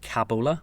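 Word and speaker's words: Kabola: And the winery is called Cabola with a K.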